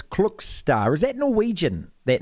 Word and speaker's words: Klokstad: this right chance cook star it's it's spelled k-l-o-k-s-t-a-d but it's clock star is that Norwegian that